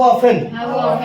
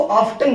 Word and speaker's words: often: ठीक आता है, मैंने क्या कहा, हाउ, बोलो हाउ ऑफन, बोलो हाउ ऑफन, हाँ इसको ऑफ्टन भी कहते हैं, क्या कहते हैं, बोलो हाउ ऑफ्टन, बोलो हाउ ऑफन, both pronunciation are correct.